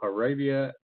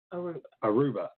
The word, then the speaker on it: Aruba: Heather is an expert on giants and megaliths and the Connecticut Stone Circle, and she's the owner of Magical Arabia Tours. Did I say it right? Aruba.